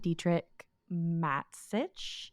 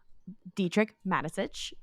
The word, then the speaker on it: Dietrich Mateschitz: Grand Prix weekend, Dietrich Mateschitz, I believe is how you say his last name.